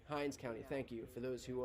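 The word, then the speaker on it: Hinds County: have uh have just confused some names okay Hines County Hines County thank you for those who are for letting me know how to pronounce that yeah I have some folks who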